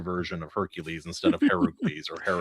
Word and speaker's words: Heracles: Disney went with the Roman version of Hercules instead of Heracles or Heracles.